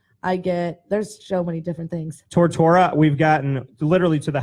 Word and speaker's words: Tortora: It's T-O-R-T-O-R-A. It's like follow the bouncing ball. Tortora. It sounds like we will rock you. Tortora.